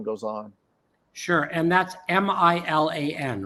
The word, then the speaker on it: Milan: It's pronounced Milan.